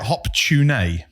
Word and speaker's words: Hop-tu-Naa: They call it hop-tu-naa. Hop-tu-naa. Hop-tu-naa. Right. But this is. I was reading an article about hop-tu-naa, but it's spelled HOP-TU-NAA. Okay. So it sounds like hot tuna.